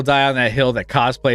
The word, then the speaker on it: cosplay: on that hill that cosplay is pronounced cos play yeah he'll die i mean phonetically that's how it should be pronounced um i was a